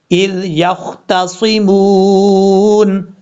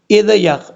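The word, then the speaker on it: إذ يختصمون: کریں گے۔ اذ یختصمون، حمزہ کے بعد جو ذال ہے اس ذال میں قلقلہ نہیں ہوگا، بعض اوقات لوگ پڑھتے ہیں اذ یخ، ایسا نہیں کرنا، یہ سمجھانے کے لیے بات بتا رہا ہوں، کسی کو ہیٹ نہیں کر رہا میں۔ اچھا، اذ، اذ، اس کا مخرج آپ کو پہلے بتا چکا ہوں، ذال کو بغیر سیٹی کے ساتھ پڑھنا ہے اور قلقلے سے بچنا ہے، اذ، یختصمون، یہاں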